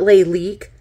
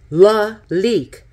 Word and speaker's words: Lalique: out it's pronounced not le leque la leak like you got a leak a leak in your boat right you got a